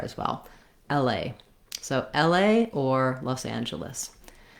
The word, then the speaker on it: L.A.: a diphthong in la we stress on the a so the l is kind of shorter and the a is longer it has some secondary stress on l because i do have a clear vowel there as well la so